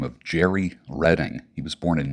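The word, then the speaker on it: Jheri: hair industry the guy by the name of Jerry Redding he was born in 1907.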